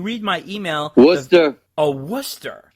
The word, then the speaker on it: Worcester: and when you read my email the a worcester pronounced worcester what's with this i know it doesn't spell